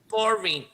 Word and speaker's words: foreign: 那个 G 呢，你们把它当成没看到，因为 G 不发音哦，就直接会念 I 跟 N 的音，就是这边念 for，然后念 in 哈，念是 foreign。